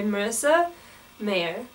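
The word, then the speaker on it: Marissa Meyer: you say her name her name is spelled very interestingly and i kept forgetting how to spot but i'm pretty sure it's just marissa mayer i heard about it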